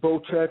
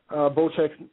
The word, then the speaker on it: Bocek: I actually thought this dude's name was pronounced Bocek. That's how I was pronouncing it, but I guess it's pronounced Bocek. So when I watched your video, I laughed.